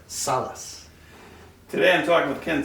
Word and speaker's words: Salaz: wrong okay how do i say it right salas today i'm talking with ken salas and uh